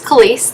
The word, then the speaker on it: Kaliste: say my name it's khaleese the t is silent um and i just